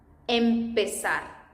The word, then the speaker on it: empezar: The right way to say this one is empezar. Empezar. Yeah, keep in mind that E sound.